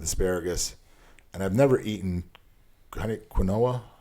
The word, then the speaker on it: quinoa: And I've never eaten quinoa.